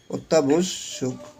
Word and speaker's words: অত্যাবশ্যক: এখন অত্যাবশ্যক, অত্যাবশ্যক, এই যে আবার এখানে জফলা দেখছি, তাহলে এটা কি হবে, দুইবার হবে, অত্যাবশ্যক, ঠিক আছে।